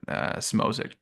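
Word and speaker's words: Szmodics: So, and Smozik, that's how you pronounce it.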